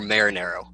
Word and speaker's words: Marinaro: we have ed sorry is it marinaro or marinero marinero marinero alex is right ed marinero amanda don't